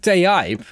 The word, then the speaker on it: TAIP: I actually think I need to pronounce it, I think Type, because they're really putting the AI in tape.